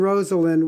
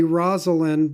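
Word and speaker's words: Rosalynn: His wife, her name is Rosalind. That's how she pronounces it. Some people say Rosalind, but she says Rosalind.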